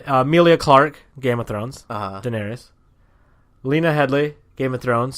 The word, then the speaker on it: Daenerys: Denise, Denise, the Queen of Dragons. No, Daenerys.